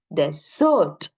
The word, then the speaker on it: desert: the second one is desert right desert and desert desert is basically we emphasizing on D right the the first